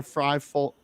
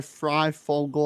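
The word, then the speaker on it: Fryfogle: emergence of michael panics ty freifault ty fry fogle i think is how you say his name um is unbelievable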